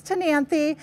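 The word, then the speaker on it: Ctenanthe: is called tany okay it starts with the ca the SE is silent so this is tany this one is sosa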